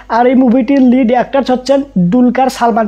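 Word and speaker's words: Dulquer Salmaan: আগে থেকে জানতে পেরেছি উনার নাম টুলকার সালমান না উনার নাম ডুলকার সালমান কিন্তু আমাকে ওনাকে দুলকার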